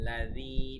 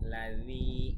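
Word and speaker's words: الَّذِي: আরাআইতাল্লাযী, দালের উচ্চারণটা সাবধানে করতে হবে। লাযী বলা যাবে না, লাযী পাতলা করে, লাযী এভাবে।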